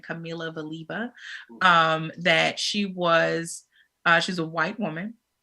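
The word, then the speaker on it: Kamila Valieva: But the other one, and I'm not sure if I'm pronouncing her name correctly, but it's spelled Kamila. Last name spelled Valieva. So I'm pronouncing it Camila Valieva.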